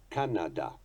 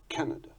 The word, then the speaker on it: Canada: They pronounce Canada, Canada, as opposed to our Canada.